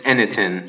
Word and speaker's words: Enitan: I'll try and pronounce it. It's Enitan.